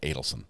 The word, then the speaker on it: Adelson: I'm saying Adelson, even though I went to a school called Adelaide Elementary, and it's spelled exactly the same way. Adelaide Elementary and Adelson. So it rubs me the wrong way to say it that way.